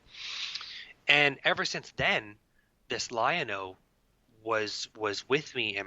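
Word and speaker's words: Lianaux: it says to me lionel and it's spelled uh l-i-a-n-a-u-x lionel and uh i could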